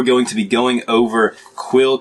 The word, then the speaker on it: Quelle: to be going over quill cartridges i'm pretty sure that's how you pronounce that q-u-e-l-l-e quill yeah close enough so this is what